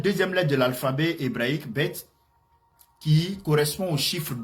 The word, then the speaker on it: Beth: Bête s'écrit de cette manière.